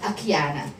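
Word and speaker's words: Akiane: This little boy, one day, the father saw, okay, there's this girl called Akiana. Her name is spelled A-K-I-A-N-E.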